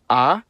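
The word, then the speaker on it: а: The cerillic version is called ah and makes the sound a uh I won't say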